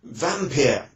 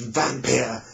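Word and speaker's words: Wampir: that time he had used the the term vampire spelled w-a-m-p-i-r it would have been pronounced vampire but vampir and the the character was count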